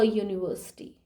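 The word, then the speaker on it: university: honest boy यूनिवर्सिटी यूनिवर्सिटी यूनिवर्सिटी की spelling start होती है यू से लेकिन उसके आगे लगता है अ I went to अ यूनिवर्सिटी अ वई यूनिवर्सिटी प्रोनंसिएशन य से स्टार्ट हो रहा है मींस वाई वाई से स्टार्ट हो रहा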